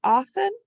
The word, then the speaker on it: often: next bonus word often now we can say often but to spell it it helps us if we think often you don't have to say it like that but that would help you spell it off 10 often we say